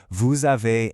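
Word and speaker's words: vous avez: And listen for that liaison again. That smooth Z sound when you say vuave and il connects the words together.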